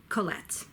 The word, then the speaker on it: Colette: me a Anna Fournier go let go let Colette and she wrote Chevy shaky sherry as well